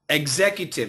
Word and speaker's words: executive: Executive. Executive. Here we keep the T sound. Try it. Executive. That's right. It's a Z in there. It sounds like E-G-G-S.